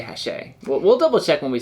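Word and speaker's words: Hachette: hashe yeah booth yeah it's spelled like hatchet but i'm pretty sure you say hashe we'll double check when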